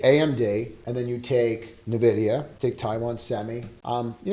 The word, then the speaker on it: Nvidia: there's Nidia and that's how it's pronounced it's pronounced Nvidia so what happened in here right around 1:00